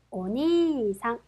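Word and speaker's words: お兄さん: 보실까요 자 오빠 혹은 형이라고 하는 뜻의 단어입니다 오니상 그렇죠 자 니 이단이 이제 뒤에이가 왔기 때문에이이는 거의 들랑말랑 그래서 오니상 오빠라는 뜻이었습니다 다음요 이번에는 우단에 우가 왔네요 그렇죠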